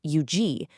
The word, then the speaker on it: Huger: When you know that Huger is pronounced Eugi, you're suddenly connected to those French settlers from centuries ago.